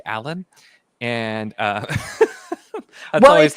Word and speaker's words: Alain: after having read, and I had always pronounced it Elaine, and I struggled to get myself to say Alan, and that's Well, always it's the struggle of actually first time.